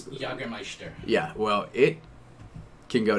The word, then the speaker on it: Jägermeister: All right, so the Jägermeister thing, or is it Jägermeister?